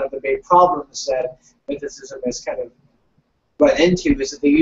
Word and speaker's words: mythicism: And by the way, the pronunciation is mythicism, just so you know, Wingman.